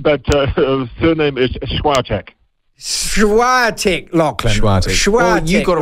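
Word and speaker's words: Świątek: say it you say it you you've got svantek that's how i was told to say it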